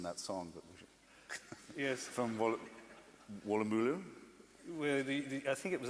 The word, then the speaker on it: Woolloomooloo: From Woolloomooloo? Well, I think it was actually the University of Woolloomooloo. Yes. Woolloomooloo, so I knew I was pronouncing it.